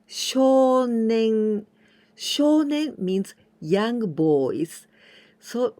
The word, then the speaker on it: 少年: With this combination, we say 少年.